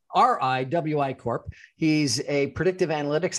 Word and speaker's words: Riwi: He is the founder and chairman of Rewy. Is that how you pronounce it? Rewy? So anything goes. Rewy, R-I-W-I, or W-I. Riwy Corp.